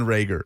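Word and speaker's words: Reagor: Thrones character Lord of the Rings villain Jaylen rager okay yes Jaylen rager and Kyle Dugger seems to be the makeup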